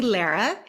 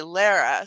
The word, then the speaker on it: Lara: So, um, I think it's Lara. But will you just correct me if I got that wrong? It's actually Lara. Okay, Lara.